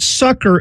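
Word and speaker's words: succour: says to sucker us now that word sucker in the bible in the king james bible it's spelled s-u-c-c-o-u-r now it is obviously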